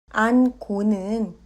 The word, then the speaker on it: 안고: 안고는 안고로 발음합니다.